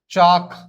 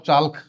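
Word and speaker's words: chalk: almond काफ नॉट काल्फ चाक नॉट चाल्क palm हथेलीम salmon shaman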